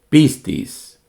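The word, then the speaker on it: πίστις: misma raíz por ejemplo la palabra fe en griego se pronunciaría de esta manera piscis pistis y el verbo creer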